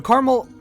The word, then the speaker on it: Carmel: And it is caramel, not caramel, not caramel, because there is only one A. Okay. Is look at how that's spelled. C A R M E L. Caramel. Or I hear some people say caramel, which sounds cooler than caramel.